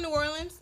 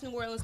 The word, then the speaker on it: New Orleans: I'm from New Orleans. We pronounce New Orleans, New Orleans.